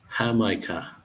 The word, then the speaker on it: jamaica: I did try that called Jamaica which is pronounced hamica hamica I'm not I don't